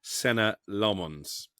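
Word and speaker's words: Senne Lammens: Well, I think I've pronounced it about 16 different ways over the course of the summer, but we're told it's Senna Lomons.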